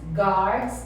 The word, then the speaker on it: guard: Então a pronúncia, gente, o U é mudo.